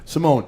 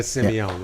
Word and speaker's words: Simeone: Simone. Okay, because I've talked to some people about you. Yep. And they threw like an E at the end. Oh, that's Yeah, they did a Simeone, right?